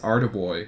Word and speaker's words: Arduboy: du boy devkit and I think it's actually pronounced art boy I don't know I've heard different pronunciations but but the guy who actually made it uh he says that it is Art boy or at least when